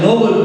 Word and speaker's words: Nobel: This word also people mispronounce it. You cannot pronounce as Nobel Prize. It is called Nobel. Nobel Prize. Nobel is different.